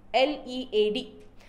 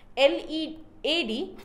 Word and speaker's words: lead: It is L-E-A-D. L-E-A-D can be pronounced as lead and can also be pronounced as lead.